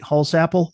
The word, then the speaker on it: Holsapple: yet the musical chemistry undeniable band member Pete holsapple is that pronounced correctly Peter holapp holapp Likens the band to a quote locomotive